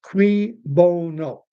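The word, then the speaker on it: cui bono: Who benefits is qui, spelled Q-C-U-I, bono, pronounced qui bono.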